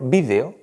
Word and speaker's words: vídeo: castellano hay algunas palabras que admiten una doble pronunciación y por lo tanto admitirán una doble acentuación. Palabras como por ejemplo vídeo, que decimos normalmente en castellano, es tan correcto como video, que se suele decir en Latinoamérica.